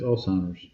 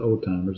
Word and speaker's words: Alzheimer's: Yeah, it's Alzheimer's. It's not old timers. It's Alzheimer's.